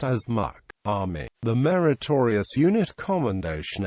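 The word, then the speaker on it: MUC: meritorious unit Commendation is abbreviated as Mu and pronounced as Muk Army the meritorious unit Commendation emblem warn to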